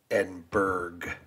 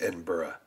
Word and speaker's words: Edinburgh: same with like uh instead of saying edberg you know it's Edinburgh so it's how and why